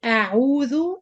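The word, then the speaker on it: أعوذ: So number 1, especially with the non-Arab people, they pronounce the ayn as hamza. When I say a'udhu, it's not like when I say a'udhu, a'u, this is u. So if you want to know you're doing ayn or hamza, try to pronounce the both of them. If you have 2 different sounds, that means the ayn is different from your hamza, and this is good.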